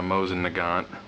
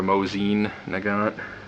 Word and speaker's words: Mosin-Nagant: you know there's a proper russian way to pronounce it but uh most most people who speak english just call it a mosin nagant um or a mozine nagant so if you're not familiar with the mosin